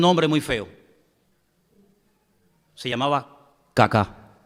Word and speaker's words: Kaká: muy feo, se llamaba Kaká. Menos mal que tenía el acento ahí. Si llega a tener el acento en otro lado, peor todavía. Se llamaba Kaká.